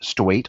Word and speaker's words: Stuyt: Yes, that's how you pronounce it, like state, Stuyt.